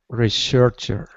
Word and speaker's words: researcher: Researcher. First syllable. Researcher. Researcher. Sorry. Good. Not researcher. Researcher is a noun. Research is a verb. First syllable again. To do research. Yeah. I can't think of an example where it's on the second syllable. I can't think of it. I think it's always on the first syllable for research.